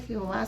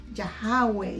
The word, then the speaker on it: Yahweh: Y ella me decía, sí, pero ustedes le dicen Jehová, pero no se dice Jehová, sino que se dice Yahweh.